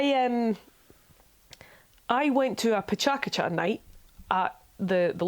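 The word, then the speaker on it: PechaKucha: you don't know what I thought it was pronounced Petra Kutcher because I assume that things are pronounced the way they are in English sorry Colonial me but it's pronounced pachakacha and it's cool and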